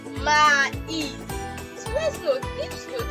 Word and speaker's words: maïs: You have your ma, e, then is. If you are pronouncing it, the sounds are separate. Like you can hear the sound separately.